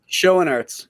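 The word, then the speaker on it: Schoenaerts: Schoenarts.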